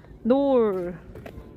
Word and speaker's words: Knole: 우리 라는 지역에 왔어요 kno lee k 는 묵음 입니다 놀 근데 정말 커요 진짜